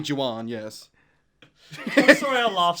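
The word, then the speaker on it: Jewan: 23 year old nails that's pronounced juan juan excuse me actually no it's not it's j-e-w-a-n oh my gosh it's actually juwan yes i'm sorry i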